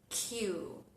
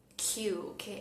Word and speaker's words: queue: Y hacemos una mención especial a la palabra Q, que le sobran un montón de letras y es muy antiintuitiva porque viene del francés.